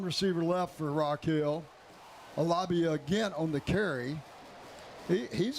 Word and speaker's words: Alabi: That's how you say it, Alabi. I looked it up.